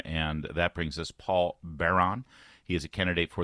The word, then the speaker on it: Beran: I just don't want people to think that it's spelled, like an old medieval Baron. It's Beran, and you want to go right.